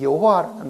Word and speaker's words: 여호와: 왜 이 발음을 야훼라고 발음을 하기도 하고 여호와라고도 말하는가 하는 것은 이 히브리 단어가 가지고 있는 그 글자 자체 때문에 그렇습니다.